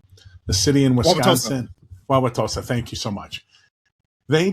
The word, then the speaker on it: Wauwatosa: And I looked up, and I'm going to try to pronounce this, Wauwatosa, the city in Wisconsin. Wauwatosa, thank you so much.